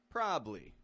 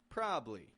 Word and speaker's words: probably: but a probably probably we're pronouncing a word that's spelled with three syllables as a two- syllable word keeping it quick and